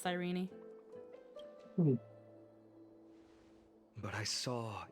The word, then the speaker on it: Cyrene: Okay, so it's pronounced Cyrene.